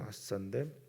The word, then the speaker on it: 아싸: 아싸라고 하는 이 발음, 원래는 히브리어는 아싸인데 이 아싸가 강하다 뭐 이런 뜻을 가지고 있습니다.